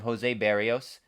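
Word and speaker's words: Berríos: a whole season of jose berrios i should say is the correct correct pronunciation they have kevin gossman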